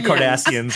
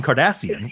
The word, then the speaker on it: Kardashian: Hey, every time I say her name, I want to say Kim Kardashian, which is not correct. It's Kardashian.